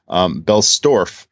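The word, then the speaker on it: Bellstorf: our belt sorry I said in his last name wrong Bell store and who's a German creator and the book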